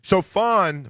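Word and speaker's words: Shaphan: Chafon read the Bible to the king Josiah.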